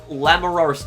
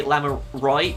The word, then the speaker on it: Lamiroir: I think you're supposed to say Lamiroir, because I think that in French, the R is supposed to be silent at the end, but somebody let me know if I'm pronouncing it correctly.